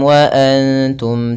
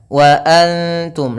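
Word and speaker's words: وأنتم: Nun sukun diikuti oleh ta. Bunyi nun haruslah , maaf, tersamarkan ke arah ta, bukan wa antum. Jangan mengucapkan wa antum, karena jika demikian, ikhfa akan menjadi tidak akurat.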